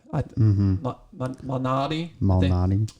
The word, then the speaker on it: Malnati: So Peter Malnati, Malnati. Yeah, I think I pronounced that right.